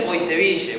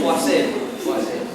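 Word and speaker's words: Poiseuille: Que se escribeille y los exámenes dicen poiseville muchas veces, pero es poas.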